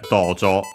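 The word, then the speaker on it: 道場: Yeah, dojo. So yeah, literally the way, place, spot, and so on. Jo, we have studied its kanji. Yeah, a hall used for martial arts training. Accent on the first mora, it's a Chinese compound of those.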